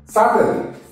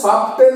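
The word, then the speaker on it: subtle: বোকা তারপর হচ্ছে কি সাটেল এস ইউ বি টি এটার উচ্চারণ সাবটেল হবে না সাবটেল নয় কি বলবো সাটেল সাটেল কি বলবো সাটেল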